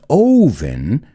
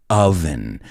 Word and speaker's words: oven: Y cuidado con la pronunciación, no es oven, sino oven.